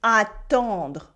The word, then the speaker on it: attendre: They are attendre. It is to wait. Attendre. We have a en sound.